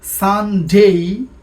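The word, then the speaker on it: Sunday: আগে আমরা বলতাম সানডে, বাট it should be সানডে। উচ্চারণটা ভালো করে খেয়াল করি, সানডে।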